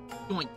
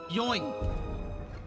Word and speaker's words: Yoink: Doink. Doink. Doink. Doink. Doink. What kind of name is Yoink? No. You're saying it right. You're not saying it right. It's more like... Yoink.